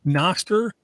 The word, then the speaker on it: Nostr: going to take a quick pause and say Noster is spelled n-o-s-t-r if if someone says today they